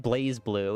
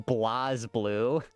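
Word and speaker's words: BlazBlue: Well, Blas Blue I've learned it's pronounced. It's not Blaze Blue. It's fucking Blas Blue.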